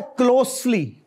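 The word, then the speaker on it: closely: और उसके बाद है क्लोजली, यानी एस है, जेड नहीं है, हमने इसको क्लोजली बना दिया, विच इज रॉन्ग।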